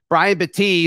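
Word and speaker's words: Brian Battie: back that came in Brian Betty it's not batty sorry I've been saying his name wrong Brian Betty the the south Florida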